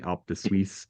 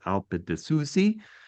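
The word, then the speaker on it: Alpe di Siusi: I was saying Alpe di Suisse, it's Alpe di Suzi, and it has the most beautiful mountain.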